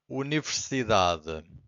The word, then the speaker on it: universidade: And the rule number one says that usually the strongest syllable, it's the second to last. Every time this happens, the final syllable, the last one, it's very weak. It's not silent, but it's very weak. It's hard to hear.